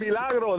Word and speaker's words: El Milagro: El Milagro, that's exactly how you say it.